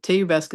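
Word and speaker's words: te iubesc: Teubesque is how you say I love you in Romanian.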